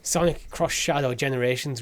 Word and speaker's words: Sonic X Shadow Generations: Sonic X Shadow generations how do you say the X cross cross Sonic cross Shadow Sonic cross Shadow generations reviews are out it's